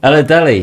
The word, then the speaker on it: Oladele: Did I pronounce it correctly? Oladele. Oladele.